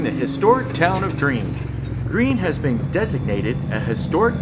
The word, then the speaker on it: Greene: Greene has been designated a historic town by the state of Texas. The name of the town is pronounced like the color green.